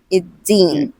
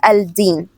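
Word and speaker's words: يَوْمِ الدِّينِ: So Maliki Yawmi Iddin. So here we say it Iddin, not Al-Din. Iddin.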